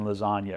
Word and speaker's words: lasagna: And now in one of my songs, I talk about, you know, something about, you know, the silent G in lasagna or whatever.